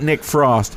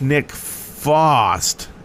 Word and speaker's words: Nick Fost: uh server name wrong it's not nick frost it's nick fost f-o-s-t i'm gonna blame that